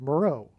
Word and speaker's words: Meroe: Moreau, which is spelled differently, but it sounds the exact same. And there is an ancient region of Kush, which is Ethiopia, named Island of Meroe.